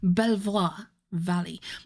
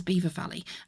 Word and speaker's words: Belvoir Valley: well, you would pronounce, if you read it as, like, phonetically, it would be Belvoir Valley, but it was actually otherwise pronounced as Beaver Valley, and it was where